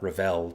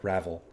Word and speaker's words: Ravel: And how to say her name, not Ravel, but Ravel.